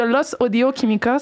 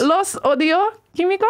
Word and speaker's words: Los Audio Kimikos: J'ai Crucito et Kiko de Los Audio Químicos. Ça va-tu ma prononciation? Oui, ça va, c'est parfait, c'est parfait. Dis-le encore, Los. Los Audio Químicos?